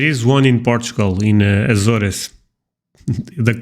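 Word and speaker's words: Açores: one in Portugal in aoris the the correct pronunciation is aor but I know you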